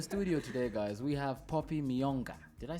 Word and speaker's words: Poppy Miyonga: But in studio today, guys, we have Poppy Miyonga.